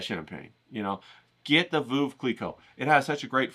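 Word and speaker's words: Veuve Clicquot: And if you don't know what champagne to get, you'll get the Vuv Cleico. That's how you say it.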